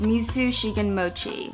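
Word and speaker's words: 水信玄餅: The raindrop cake is otherwise known as water cake, unicorn tear, edible water bottle, and in Japanese, I believe it's pronounced misu shigen mochi.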